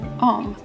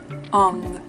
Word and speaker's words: Om: So oftentimes you hear Om and you think it's Om, O-M, right? Well, technically that's wrong. Where it is spelled O-M, it's actually pronounced Ong, O-N-G.